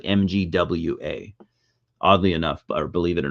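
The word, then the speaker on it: Mgła: or they're a Polish band but it's yeah pronounced magua so like it's pronounced like mgwa oddly enough believe it or not I know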